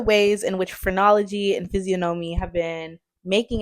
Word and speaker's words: physiognomy: It's physiognomy, y'all.